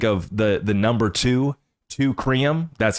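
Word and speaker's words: Teucrium: So I just think of the the number two treum. That's how it's pronounced.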